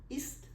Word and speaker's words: ist: So we pronounce like ist, very short.